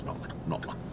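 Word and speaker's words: Knottingley: to head out towards Notla. It's spelt Nottingley, but everybody says Notla.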